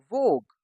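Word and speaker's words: vogue: इसको हम पढ़ते हैं वोग। क्योंकि यू और ई तो साइलेंट है।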